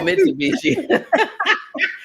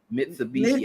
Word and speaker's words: Mitsubishi: car I not say it a Mishi oh mitubishi I sure wasn't thinking of M I can't say that word for nothing I wasn't even thinking is it mitubishi I can't say it Mitsubishi I say mitubishi and I could be probably